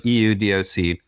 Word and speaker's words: Eudoc: It's spelled EUDOC. The idea is it comes from the Greek prefix eu, right? So state of good well-being, euglycemic, euthyroid, things we use in medicine a lot, and then doc for doctor. So the good doctor, or doing medicine the way it should be done. And then the pronunciation is Eudoc, being you and the doctor with no middleman.